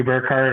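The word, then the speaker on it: Burkhardt: you look up burkart or it's spelled b Ur k h a r DT um and the D is silent like d Jango it's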